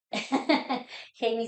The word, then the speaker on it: Geimy: cómo te pueden contactar J mi nombre se escribe con g y es una historia que pueden leer en mi página web Je y me pueden